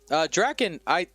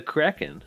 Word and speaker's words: Kraken: Draken, did I just say your name wrong? I did. You were the first person I called out. It's the Kraken. The Kraken. Sorry, I said Draken.